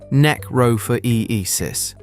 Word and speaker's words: necrophoresis: Ants perform something called necrophoresis, pronounced neck-ro-for-e-e-sis.